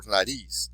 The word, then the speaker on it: nariz: So, once again, for señor, you have señor, last syllable, so that's where your stress would be. For nariz, nariz.